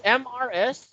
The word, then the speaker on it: Mrs.: it's MRS, it's pronounced as Mrs.